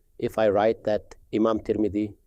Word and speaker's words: Tirmidhi: said such and such, the script itself does not indicate whether the name should be read as Tirmidhi, Tarmidhi, or Turmidhi. If you already know the name of Imam Tirmidhi, then you pronounce it correctly on that basis.